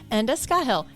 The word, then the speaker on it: Enda Scahill: teachers and acclaimed banjoists out there anywhere worldwide Anda skahill welcome to link ahead it's lovely to be